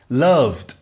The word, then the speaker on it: loved: worked, /t/ Loved loved, /d/ Added added /id/ Veja